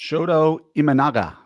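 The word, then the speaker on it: Shota Imanaga: Shoto Ianaga.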